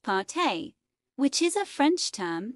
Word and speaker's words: pâté: The images included what looked to be a lobster or Cornish hen mashup meal, a salad, desserts, and a slice of pâte pronounced pâté, which is a French term that loosely translates